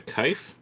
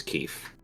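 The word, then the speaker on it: kief: Is that a kife? Is that what Keef. that's pronounced? Keef? Packed with Keef, That's yeah. my second guess was Keef.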